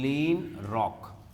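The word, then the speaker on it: Kleinrock: है इसने किया था लियोनार्ड में लीन रॉक यहां पर के साइलेंट है उसके नाम है ठीक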